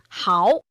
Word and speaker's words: 嚎: 现在我知道了，凡是表示大声哭或拖长声音大声呼唤，一律读作第 2 声嚎。